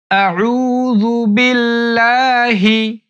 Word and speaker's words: আউজুবিল্লাহি: আলিফ টান দিতে হবে বিল্লাহি বিল্লাহি বিল্লাহি আউজুবিল্লাহি আউজুবিল্লাহি আউজুবিল্লাহি আউজু বিল্লাহি আউজুবিল্লাহি এরপর মিনাশ শাইতরটা উচ্চারণ করতে অনেকেই পারে না।